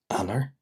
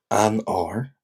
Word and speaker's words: Eanáir: Because it has the A fada in it, uh which in Ulster Irish makes it like a very harsh ah ah ah. I'll go for Eanáir, Eanáir, instead of Ean-air.